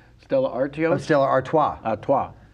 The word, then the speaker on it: Stella Artois: I can't even pronounce that's the beer, right? Stella Artois? Oh, Stella Artois. Artois. Stella Artois.